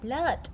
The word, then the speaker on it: blood: Tại vì câu C ký hiệu là cái dấu ớ, đọc giống như là chữ ơ, đọc là blood, máu.